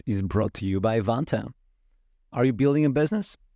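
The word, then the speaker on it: Vanta: real time and money vant rhymes with Santa automate up to 90%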